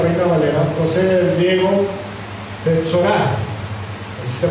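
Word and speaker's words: φθορά: Bueno, la destrucción o corrupción, como lo maneja la Reina Valera, procede del griego fetsorá, así se pronuncia, fetsorá, que se traduce como decaimiento o ruina, ya sea espontánea o infligida, ¿verdad?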